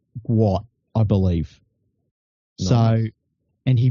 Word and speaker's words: Gout Gout: young Australian kid and his name looks like gout gout but his father come out to say and and today and said it's actually pronounced guat I believe so and he broke he's like